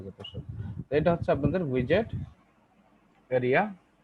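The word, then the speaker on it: widget: বা উইডগেট। হ্যাঁ, উইডগেট বা উইজেট। স্যার উইজেট এটা পারফেক্ট প্রোনাউন্সিয়েশন না? এটা নিয়ে আমি নিজে খুব বেশি কনফিউশনে থাকি। তাহলে ঠিক হলো, আমার এটা ভুলে। ইয়েস, অবশ্যই অবশ্যই উইজেট, কিসের কনফিউশন, উল্টা পাল্টা কথা যত সব।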